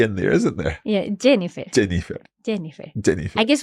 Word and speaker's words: Jennifer: International like Jennifer Jennifer so Jennifer you're you're using a almost a j s the same as it would be in English exacto there's a slightly